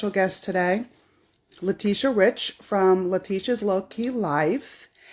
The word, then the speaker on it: Latisha: I'm going to put her in hello hi letia hi I'm just gonna tell you my name's Leticia oh my god I've been saying it wrong